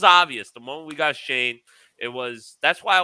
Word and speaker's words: Schoen: learn that name because i was calling him showing samuel i don't i didn't even know how to pronounce it but joe shane after i heard a